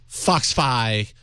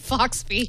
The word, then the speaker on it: FoxFi: Foxfi, close second at 42%. I mispronounced it. Yeah, dang. Yes, that's... I called it Foxby. If only you'd pronounce it correctly.